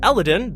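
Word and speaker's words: Eladeon: as color there is a desert world called elodin though it's spelled more like like Aladdin ironic I know it's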